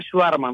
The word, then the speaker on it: Schvartzman: Schwarma, se pronuncia Schwarma, nomás, y quiere decir hombre negro, un pequeño detalle, hombre negro.